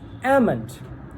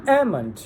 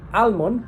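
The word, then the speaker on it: almond: So next one is ammon. Ammon. Ammon. Here the law sound is silent. So most people says almon but it's actually ammon.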